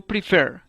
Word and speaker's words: prefer: que se acentúa como el verbo primer que se acentúa en la última sílaba y en cambio happen